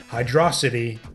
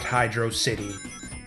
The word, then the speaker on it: Hydrocity: figure out for yourselves why it should be pronounced Hydrocity and not Hydrocity.